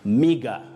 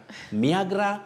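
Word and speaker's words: meagre: careers of serious communication mega omega income not niagara miagra no you say mega that is m-e-a-g-r-e if i've got it right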